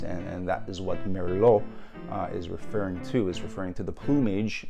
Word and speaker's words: Merlot: Merlot, right? In France, that's how they pronounce it, Merlot.